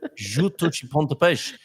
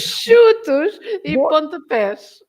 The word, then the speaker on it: Chutos e Pontapés: And also their name, we could run through the S test and see how the S's are pronounced. Juntos e Pontapés. Chutos. Hold on a minute. Chutos e pontapés.